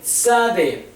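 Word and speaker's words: צדי: está la f Sade tade tade se menciona la palabra y es tz no no la mencionen como Z únicamente porque para eso está la sa y otra esade tade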